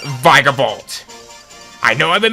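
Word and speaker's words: Vikavolt: we can encounter its evolution of it's pronounced vigor bolt i know i've been mispronouncing it from before but i will forever call it vegavault i have a bit of a story with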